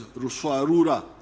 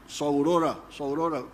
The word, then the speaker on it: Ruswarura: came to understand as Ruswarura. When you read, I think it is Speak, Understand, they write Saurora, but they were mispronouncing the name.